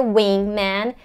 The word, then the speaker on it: wingman: them forward when weight when it's not a wingman it's a wing wing it's a relaxed sound